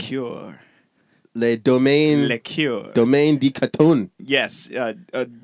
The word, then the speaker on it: Domaine de Canton: not very, yeah, that's the part I can pronounce, French ginger liquor. Say it in a French accent. Liqueur. Le Domaine. Liqueur. Domaine de Canton. Yes, Domaine de Canton.